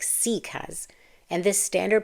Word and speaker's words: Sikh: So the next time you see this word, pronounce it as Sikh. You don't have to be perfect. As long as you're trying, that's it. That's the whole ask. Because at the end of the day, Sikh means learner.